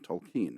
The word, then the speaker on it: Tolkien: Early on, Lewis's closest friendship was with Tolkien, and I pronounce it that way because I believe it's the way he pronounced it.